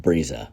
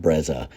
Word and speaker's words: Breza: So I don't know if you heard my name being said, but that's how you say it, Breza. It's not Breza or Breza, as some people say.